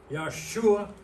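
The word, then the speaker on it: ישוע: I know a little Hebrew, and I know that that letter right there is a SH sound, Yeshua.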